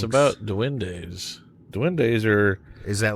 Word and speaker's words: duendes: It's spelled D-U-E-N-D-E. D-U-E-N-D-E. Duendes. D-U-E-N-D-E. D-E. Duendes.